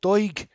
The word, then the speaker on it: Doig: How do you pronounce it? Is it Doig? Yeah, Josh Doig, yeah.